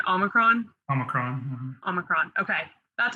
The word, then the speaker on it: Omicron: Because I've seen about 3 different pronunciations of it. Well, Omicron is how I say it.